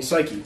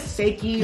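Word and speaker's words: Saiki: And then I put a pronunciation for Psyche to like make it easier to pronounce because it's spelled S-A-I-K-I. So you could say like Seiki or yeah, like, so you wouldn't necessarily think of it.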